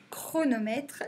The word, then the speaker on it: chronomètre: la course par exemple donc c'est un chronomètre chronomètre c'est bien le son que qu'on entend et chronomètre et bah ça s'écrit ch tant qu'on dit page chronomètre mes